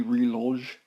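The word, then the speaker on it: reloj: bottom here is called mini relodge sch i think that's how you pronounce it it's uh mini r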